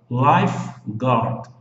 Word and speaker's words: lifeguard: Veja que o U depois do G aqui, ó, é um U mudo. Ele não é pronunciado. Eu vou colocar ele de vermelho aqui, ó, porque ele não é falado. Okay? Ele não fala. Você fala do G para o A. Lifeguard.